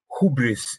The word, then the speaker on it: hubris: Can you explain why, completely out of your topic, why do they say in American English hubris instead of hybris?